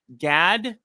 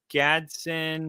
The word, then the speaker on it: Gadsden: Gadsden. Gadsden. I would almost guarantee that the second D is silent and it's Gadsden.